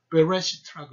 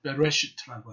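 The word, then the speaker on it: בראשית: 베레시트라고 읽습니다.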